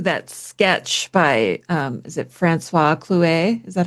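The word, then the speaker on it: François Clouet: When I think of Margaret too, I immediately go to that sketch by is it Francois Clouet?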